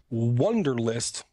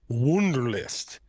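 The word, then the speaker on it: Wunderlist: on Android app adct it's called wonderlist but it's spelled w u n d r l i s t wonderlist so I guess the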